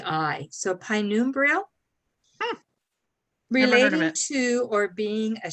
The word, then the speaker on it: penumbral: but in the um definition or in the pronunciation it's like p i so pinumbral related to or being a shadowy indefinite or